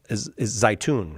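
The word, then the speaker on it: Zeitoun: What happened during the apparition of Our Lady of Zaytun, right? Zaytun is the local pronunciation.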